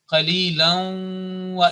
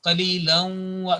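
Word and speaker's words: قَلِيلًا وَ: Regardless it is written there or not, it will be qalilan wa iyaya, qalilan wa. This assimilation and joining, combining with nasal sound, 2 seconds, holding nasal sound for 2 seconds, that is according to the rules of recitation.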